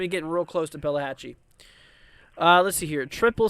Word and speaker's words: Pelahatchie: it up palette Pella it's Pelahatchie at least I think it is it could be saying it wrong this whole entire time uh let's see here